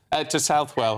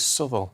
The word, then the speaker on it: Southwell: I lived in Nottingham for years, and it was always Southwell. It's Southwell. But there you go. If the locals say Southwell, then Southwell it is.